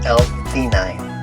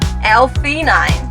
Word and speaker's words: L-theanine: How do you pronounce those words? The calming blend of L-theanine. L-theanine.